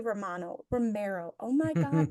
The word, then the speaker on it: Romero: I enjoyed that you said Romano. Like the Like he's cheese. the cheese. Romero.